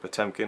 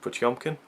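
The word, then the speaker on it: Potemkin: both paired with the the Blu-ray of Battleship P tempkin although I believe I read the booklet I read some of the booklet and it's it's pronounced Battleship pumkin so there you go I've been pronouncing it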